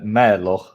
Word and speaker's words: Mahler: Mahler, like a bear mauls somebody. Is that how it's pronounced? I pronounced it apparently worse, huh? Yeah, no, I think that's a great way to do it, because if we go into the Mälo, like we say in Sweden, we're not getting anywhere.